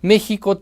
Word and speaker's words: México: The funniest thing about it is that in Mexico we have four sounds related to the consonant X. It sounds like J when we pronounce Mexico, Mexicali, Xalapa or Oaxaca; but it sounds like